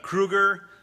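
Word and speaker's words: Krugarr: It's Kruger, and that's the pronunciation of that character's name, who's a sort of sorcerer.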